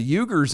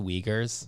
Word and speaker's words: Uyghurs: or north korea or what's the the eugers in china they'd be thankful you're not one of them it's pronounced the uyghurs whatever i feel weird saying it that way and i know it's the right way but i feel weird